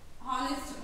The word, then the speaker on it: honest: Nitya is dash honest girl. Nitya is dash girl, honest girl. See Nana here. Nitya is dash honest girl, honest. But here the H is silent or not silent?